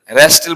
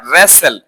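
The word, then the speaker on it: wrestle: তারপরে এটা হচ্ছে রেস্টেল বলি, রেস্টেল, এখানেও টি সাইলেন্ট থাকবে, রেস্টেল না, রেসেল, রেসেল তো কুস্তি করা, এটা উচ্চারণ কি রেসেল, রেসল, কুস্তি করা।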